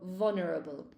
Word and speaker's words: vulnerable: The L in English in vulnerable is totally silent. So vulnerable, right?